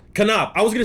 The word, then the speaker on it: Konop: Konop. I was gonna say that, but I was like, there's a slight chance that it's not. All right. Anyway, please welcome Gavin Konop to the stage, guys.